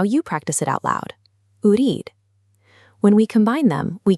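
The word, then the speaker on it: أريد: The word for want is urid. Let's break it down. U-reed, urid. Now you practice it out loud. Urid.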